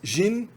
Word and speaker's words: jin: Jin, que é mulher, aliás, jin, o J é pronunciado j.